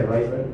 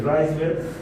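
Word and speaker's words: Wrisberg: Y es el nervio intermediario, o los nervios intermediarios, Reisberg, se pronuncia Reisberg, nervios intermediarios de Reisberg.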